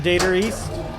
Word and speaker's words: Data East: Data. Dater. Data. Do you know the appropriate, first off, do you know the appropriate way to pronounce Data East as an Australian? Data East. That is correct.